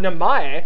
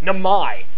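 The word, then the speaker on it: 名前: Mind you, they're wailing and gnashing their teeth about bad translation, and at the same time, they think the Japanese word namae is pronounced namai.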